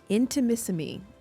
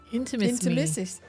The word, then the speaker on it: Intimissimi: It is called Intimissimi. Intimisimi. Intimisimi. Not into Mississippi, Mom. Like, why'd she add syllables?